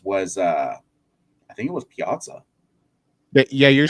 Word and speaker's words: Piazza: I mean, the last catcher that I want to say that hit 40 home runs was, I think it was Piazza.